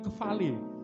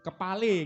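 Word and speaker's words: κεφαλή: Saudara lucu loh, bahasa Yunaninya itu kefale. Tulisannya KEPH, P-nya itu PH, kepale gitu ya. Tapi PH itu bacanya F, kefale.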